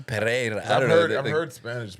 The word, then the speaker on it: Pereira: They roll the RS though like that. I'm pretty sure they It's like they roll. Pereira. Pereira.